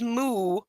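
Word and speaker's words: moue: Once it's off, I place It is a French word. I thought it was a French word. pronounced moo.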